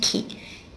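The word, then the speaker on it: 木: It's pronounced ki, and it means tree.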